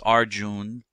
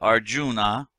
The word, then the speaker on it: Arjuna: guy whose name is Arjuna Arjuna sometimes pronounce our June but Arjuna and he's in the